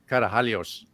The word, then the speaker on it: Karahalios: with Belinda, I always accentuate the Greek pronunciation of Karahalios because You do well. I was surrounded by, some Greek people. I was mostly Italians, but we had some Greeks as well. So I kind of got used to the pronunciation of the S with that j sound.